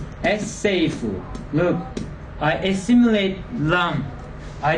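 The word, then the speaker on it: السيف: How should I pronounce this one with L? If I prefix L here, it becomes As-sayfu. as-seifu.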